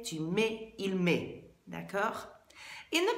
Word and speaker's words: mets: There's lots of T's and S's on the ends of those verbs, but they're all silent. So je mets, tu mets, il met.